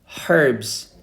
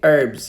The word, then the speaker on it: herbs: is chili flakes spices herbs or we can say herbs you know some people they pronounce h but some people they don't herbs or herbs parsley